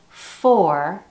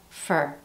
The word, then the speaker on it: for: Instead of for, we have for.